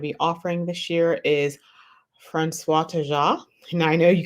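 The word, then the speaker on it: François: So that C with the thing on the bottom of it, that's called a sadia, and it's pronounced as an S in French. And in French, when you have a word that ends with a consonant, unless there's an E on the end of it, you do not pronounce that consonant. So it's just the last vowel sound.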